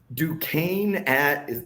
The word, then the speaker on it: Duquesne: Duquesne if that's how you pronounce that, at West Virginia. That was the correct pronunciation.